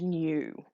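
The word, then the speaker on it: ν: frequency which is given this kind of weird curly V symbol that's actually pronounced new so this guy here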